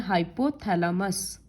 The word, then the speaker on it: हाइपोथैलेमस: इसको प्रोनाउंस करते हैं हाइपोथैलेमस, MUS। और हाइंड ब्रेन का तीन पार्ट है, पॉन्स, मेड्यूला और सेरिबेलम।